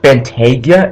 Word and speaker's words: Bentayga: If you're wondering what Bentayga is, it's a Bentley SUV. I believe it's spelled just how it looks, which is Bentayga.